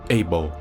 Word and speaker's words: Abel: Abel e ainda mais com a pronúncia em inglês do nome Abel que é ih Ball então tudo se encaixa